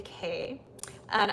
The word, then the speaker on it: Kaya: Let me know if I'm pronouncing your name correctly, because some people might say Kay. And I have many students who have that name, but they have me pronounce it Kaya.